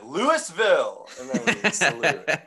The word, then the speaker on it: Louisville: very funny at a louisville louisville kentucky yeah the locals pronounce it lewisville yeah have you ever